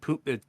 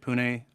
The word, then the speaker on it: Pune: Miami and then uh is it poop it's pronounced Pune right Pune um and then Dubai